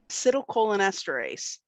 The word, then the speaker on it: acetylcholinesterase: Acetylcholinesterase.